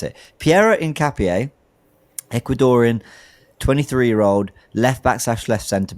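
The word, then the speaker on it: Piero Hincapié: Pierro incap incap incapier Pierro Incapier I've been told how to pronounce it. Pierro Incapier Ecuadorian 23-year-old left back/left center back 6' tall plays for Leverkusen is looking like he's going to join Arsenal.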